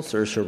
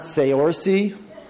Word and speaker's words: Saoirse: It's not Seori. It's not uh it's not Seoray. It's not even sorcery, although it probably should be.